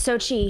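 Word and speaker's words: Xochitl: It's I'm not sure how to pronounce her name. Communications director for DNC. Okay. It's Sochi. I'm sorry. It's Sochi Hinojosa, who's the communications director for Tom Perez.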